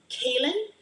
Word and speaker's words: Kaylin: And next one, pronounced more likely like Kaylin, pretty.